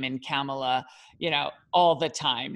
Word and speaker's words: Kamala: camila i am not a camel oh okay kamala and i love it but it's spelled the same way spelled the same way